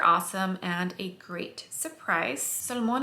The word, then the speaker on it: Solmane: and a great surprise salmon is the way that angelica nyqvist is pronouncing it i'm still probably butchering